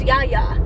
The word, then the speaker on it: Yaya: My grandma name that I chose is Yaya, which is Greek. It's not spelled like you'd think.